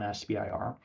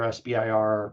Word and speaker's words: SBIR: And in general, sometimes you'll hear SBIR pronounced SIBR and STTR pronounced SITR, all the same.